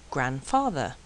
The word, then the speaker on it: grandfather: And sometimes the D is silent. Handsome, grandmother, handkerchief, grandfather, handcuff, Wednesday.